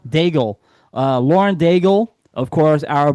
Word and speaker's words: Daigle: Daigle. Bagel. Daigle.